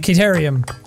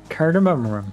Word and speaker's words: cardamom: 27 kind of who stop saying it wrong how do you say it cardamom curd america oh you're right i was my mistake